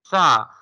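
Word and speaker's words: ث: Tha. Tha will be pronounced when tip of the tongue touching to the edge of upper two front teeth.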